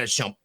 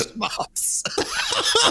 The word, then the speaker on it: shmup: much, or a shmup, not a shump.